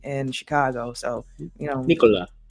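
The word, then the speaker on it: Nikola: It's pronounced the exact same way as Vousvich's first name in Chicago. So, you know, Nicola. Nicola.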